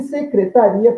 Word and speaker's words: secretaria: E secretaria, palavra homógrafa, né? Mesma grafia, nós temos dois impulsos. Logo, trata-se de duas vogais. Eu não posso ter duas vogais de uma mesma sílaba, então eu formo um hiato.